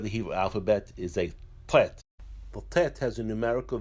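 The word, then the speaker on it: ט: The next letter of the Hebrew alphabet is a Tet. The Tet has a numerical value of 9. The Tet is pronounced as a T.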